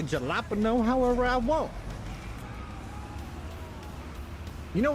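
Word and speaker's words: jalapeño: me giggle because the J is silent. I will say jalapeno however I want. You know what? Ju just because you corrected me, Timbo, it is now permanently jalapeno.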